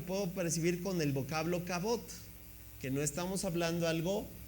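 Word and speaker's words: כָּבוֹד: La palabra se pronuncia cabot.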